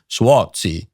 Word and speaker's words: Suozzi: Tom Suozzi, I don't know how to properly pronounce, the proper Italian way is Suozzi, but I don't know how this Medigan pronounces it.